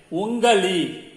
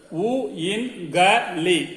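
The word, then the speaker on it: उंगली: The hand fingers are called like ungali. Ungali. Ungali. U-in-ga-li. Ungali is hand finger.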